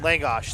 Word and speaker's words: Langosh: Langosh, thank you. Weird spelling, but simple pronunciation.